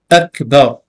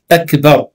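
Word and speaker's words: أكبر: Surtout Akbar, ne faites pas de voyelle longue. Ne dites pas A ou bien Ba. Akbar. Hein? Répétez, Inch'Allah. Akbar.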